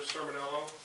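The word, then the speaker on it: Cmiel: spell your last name please sure it's cello and it's spelled c c m i e l l thank you Mr you've appeared before the board qualified as an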